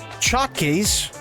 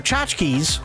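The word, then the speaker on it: tchotchke: You see, here in Hawaii, Japan chakis. Sure. Japanese chakis or chachki. There you go. Chachki.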